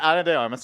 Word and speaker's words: Ana de Armas: Anna de Armas. Yeah. I'm not spending a bit on this. Okay. Yeah, Ana de Armas.